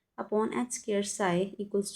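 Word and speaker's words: psi: साई equals to साई का जो P है ना वो साइलेंट होता है, सो it represent wave motion, okay.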